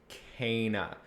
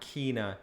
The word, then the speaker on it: Kena: taking a look at kana bridge of spirits developed and published by ember labs right off the bat yes it's pronounced kana not kina as confirmed in the actual game when she you know